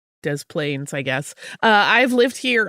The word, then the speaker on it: Des Plaines: We say both S sounds, so it's des plaines, I guess.